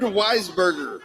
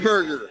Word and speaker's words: Wiesberger: Bernd Weisberger. Well, you got to say it. Wiesberger. It's How about Bernd Wiesberger. I said it right the second time.